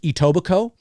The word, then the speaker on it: Etobicoke: but it's actually pronounced Etobicoke the the the K in coke is silent Etobicoke to the so you